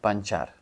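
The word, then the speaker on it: pancar: машині англійською кар але кар Я так розумію читається як чар тому буде панчар панчар тобто в нас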